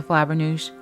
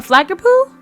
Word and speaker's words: Flabbernoosh: A flaggerpoo? Is that what I see? A Flabbernoosh is how you say it, and yes, you're spying me.